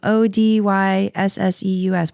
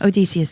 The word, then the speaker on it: Odysseus: Odyssesseus. Why can't I say Odysseus? Odysseus, thank you. You're welcome. God, why? I was like, why am I adding an extra ES?